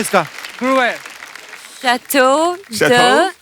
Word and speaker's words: Gruyère: Jacqueline ने pronounce it. Jacqueline क्या नाम है इसका? Gruer. Chateau de Chateau? Gruyère.